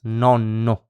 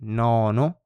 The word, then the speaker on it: nonno: They are just pronounced like a longer consonant. Consonante lunga, so a long consonant. For example, some words are nonno. So instead of saying nono, like if you had just one N right here, by the